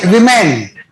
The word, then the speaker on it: women: word it is plural it is women o is pronounced as I हो गया घोटी का